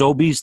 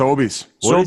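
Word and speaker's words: Sobeys: game Saturday night this is it pronounced obese the store up in Canada yes obese yes okay so his name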